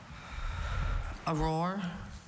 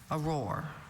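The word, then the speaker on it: aurore: Auror. Auror. That's the only pronunciation, right?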